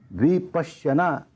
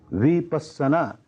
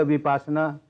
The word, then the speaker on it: विपस्सना: बिल्कुल नई लगती है विपश्यना यह इसका संस्कृत उच्चारण है विपस्सना यह पाली उच्चारण है लेकिन मैं देखता हूं जगह जगह विपासना विपासना यह क्योंकि उपासना एक